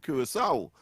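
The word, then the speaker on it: Curaçao: too far bunker I remember when I was doing geography and as first time I saw the word um cur curissau but I I used to pronounce But uh I don't know some some people seem to have un understood it until afterwards I realized of course that the C has an an an accent and and of course it is pronounced with a s a s song.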